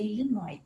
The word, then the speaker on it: Illinois: número variável desde 10 no illinois e nóis é aí nós mas se pronuncia illinois mas também a 20